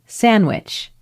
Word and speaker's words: sandwich: this happens often right like in the word sandwich you don't always say sandwich you might say sandwich sandwich because you have an N you have a d and then you have a w it's